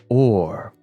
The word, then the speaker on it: hour: See, the word hour did not used to be pronounced hour. It used to be pronounced or.